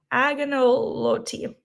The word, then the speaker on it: agnolotti: Yeah, the agnolotti. The lady said the G is silent.